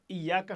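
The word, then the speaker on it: إياك: এই ইয়াকা নাবুদু এখানে ইয়াকা নাবুদু উচ্চারণ করতে গিয়ে আপনাকে একটু প্রেসার দিতে হবে কারণ ইয়া শব্দের উপরে তাসদিদ আছে আর তাসদিদ যেখানে থাকে সেখানে একটু চাপ লাগিয়ে উচ্চারণ করতে হয় ইয়াকা এবং অর্থগত দিক থেকেও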